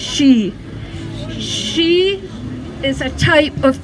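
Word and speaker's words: sìth: The Gaelic word for peace is she, S-I-T-H, pronounced she.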